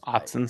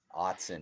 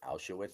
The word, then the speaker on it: Autzen: God, I'm not even going to try to pronounce Oregon Stadium because Autzen Stadium. Autzen, yes. The other weekend I was having a conversation with a friend and I think I called it Auschwitz Stadium.